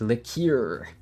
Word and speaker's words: liqueur: how do you even pronounce that leaky or it's not liquor it's liqueur this is regular chat